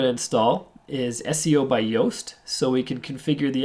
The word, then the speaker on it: Yoast: Yoast SEO Yeow assist Yoast is spelt like toast but with the with the Y so there's a very